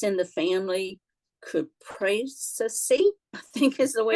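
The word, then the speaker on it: Cupressaceae: It's in the family Cupraceae, I think is the way Good it's pronounced. job. Yes, Cupraceae.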